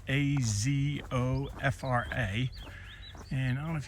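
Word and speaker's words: Azofra: I think it's pronounced Athopha. A zo fra.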